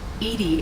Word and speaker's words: EDI: why are you named Edie Edie is the phonetic pronunciation of EDI that is an acronym for enhanced defense intelligence how are you getting along with Jovie mr.